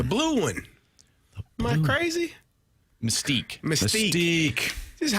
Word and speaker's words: Mystique: Mystique. This is how you pronounce it, man.